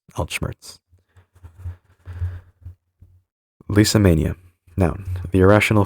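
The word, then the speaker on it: Altschmerz: from German. Alt old plus schmmerz pain pronounced alt schmmerz.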